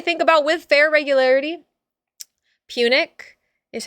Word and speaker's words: Punic: Punic is how I say it, but I might be wrong.